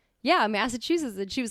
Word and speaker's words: Massachusetts: And I was like, yeah, Massachusetts. And she was like, I'm sorry, what? And then I was like, yeah, Massachusetts. And she was like, Chusets. There's like, you got to pronounce the T's.